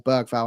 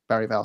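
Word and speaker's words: Bergvall: obviously was was um or bergal however you want to pronounce it it is bural supposedly but yeah he it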